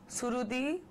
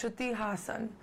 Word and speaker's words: Shruti Haasan: So I get Shruti, Surudi, Strudi, Hassan. No, it's Shruti Hassan. And I would really love if you could say it that way.